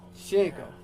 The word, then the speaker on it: Sienko: That's how you pronounce it, right? Uh-huh. Okay. Sienko. Sienko.